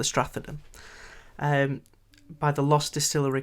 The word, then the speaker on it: Stratheden: in the comments uh the strathadon could be the stratagon but i think it's the strathaden um by the lost